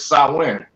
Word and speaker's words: Samhain: to spell it because I heard how it was pronounced and I'm like, damn, it don't sound like how it's spelled. Oh, so like it, sir, it's Samhain. See, you know what I'm saying? Sound women that it ain't spelt like that though, but that's the pronunciation of it.